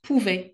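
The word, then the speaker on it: pouvaient: ve elle hen pouvait On ne prononce pas e n t je tu il on il on prononce pouvait cou nous pouvion nous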